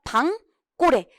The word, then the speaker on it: 방고래: 요게 이제 많이 나오게 되는데 여러분 참고로 얘 발음이 어떻게 됩니까? 방 플러스 고래죠? 여기 울림 소리죠? 예사 소리죠? 그럼 어떻게 돼요? 방꼬레. 사이소리 현상 일어나게 돼요.